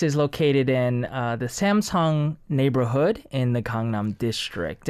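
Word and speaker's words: Samseong: Although, it's pronounced the same way in Korean, right?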